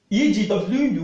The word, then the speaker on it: egwu: EGWU with low tone, do you know what is going to be? Fear. It means fear. And it's going to be pronounced this way. Egwu. Egwu. Not egwu. Egwu means dance or music. But egwu means fear.